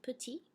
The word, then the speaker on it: petit: Pierre est petit. pas de... je ne prononce pas le T final. I'm not pronouncing that final T because there's nothing coming after.